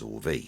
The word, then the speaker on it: Auvi: the entertainment and again it's spelled a uvi which is audio and visual so in our part of the world we're pronouncing it as all v so i hope that